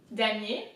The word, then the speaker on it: damier: So damier, same as last time, very easy. We've seen I-E-R, ye, damier, and then azure.